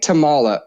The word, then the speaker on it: Tomala: Brandon Morton is our producer and today my guest is Tamala. welcome to the show. Did I pronounce your last name correctly?